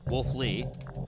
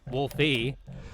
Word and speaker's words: Wolfie: Wolfie says, "Because you can pronounce my name, Wolf Lee, not Wolfie, thanks and Godspeed."